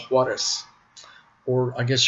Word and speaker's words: Juarez: It's called Juarez. Or I guess you could pronounce it the lazy American way and say Juarez if you want to.